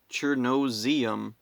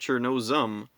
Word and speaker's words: Chernozem: But everywhere online, it's spelled out like Chernozium. Or, Chernozium. Where's the eum coming from? It's just Chernozem.